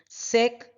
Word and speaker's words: sec: So, the name of this is secant C, which in short is written or pronounced as sec C, is equal to the reciprocal of cos, that will be AC upon BC.